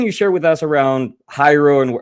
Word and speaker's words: Hiero: And you can go to uh our website, the Hiero and it's spelled h i e r o. And uh sometimes people pronounce it hero, but it's actually Hiero as in hieroglyphic.